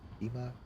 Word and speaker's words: Kimar: Kimar is pushing in. Kimar, am I pronouncing that right, Jamie? Kimar? Say Kima? Kima? Okay, we're going with Kima.